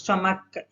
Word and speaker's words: stomach: ch வந்து pronounced k, s தான் பண்ணும். stomach, ick, k.